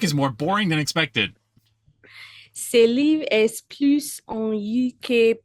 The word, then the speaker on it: ce: It's tempting to pronounce it like c'est, but it's ce.